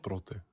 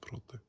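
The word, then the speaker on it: πρώτη: There's protos, and it's pronounced prote. In Luke, it's pronounced prote, and prote means only first.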